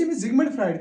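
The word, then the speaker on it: Sigmund Freud: यह हसा सिगमंड फ्राइड मगर वो अमिच प्रोनाउंसिएशन यह सिक्समन यानी दिस इज द सिगिसमन या सोलमो फ्राइड यह प्रोनाउंसिएशन सो पूरे नाव सिगाइजमन सोलमो फ्राइड यह प्रोनाउंसिएशन तो अड़स जिगमंड फ्राइड तक वन इंग्लिश वर्ड समझ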